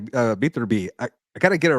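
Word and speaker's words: Beterbiev: Beaterby.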